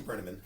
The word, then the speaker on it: Brenneman: right, well, it's Brenneman.